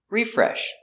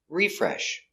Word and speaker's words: refresh: him very good example refresh click refresh that is the noun refresh I click refresh to refresh the page the verb on the second syllable refresh I need to